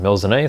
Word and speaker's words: Melusine: or I don't know, there's a multitude of ways of pronouncing this, but in Japanese it's pronounced Melusine, so I guess seeing that Kawayokiyama, the artist who has designed this, is Japanese and pronounces it that way, why not follow?